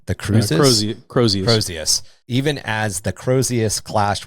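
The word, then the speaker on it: Crozius: Even as the cru you pronounced this weapon right, the Cruz. Cros Crosius. Crosius.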